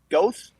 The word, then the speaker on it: Goethe: Wolfgang von Goethe. I don't know. Is this Van Gogh? This is Goethe. Goethe is the last name. Goethe? Oh, I would have failed that. I mean, that's Goethe, really?